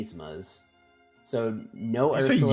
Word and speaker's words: Yzma: Yzma. There's no y. Yzma. No, I said Yzma. Yzma. You said Yzma, like yes. Yeah, it's Khan Yzma. You don't pronounce the Y. It's an E.